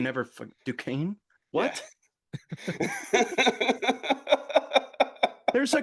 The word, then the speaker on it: Duquesne: Because I can Duquesne. never. Duquesne?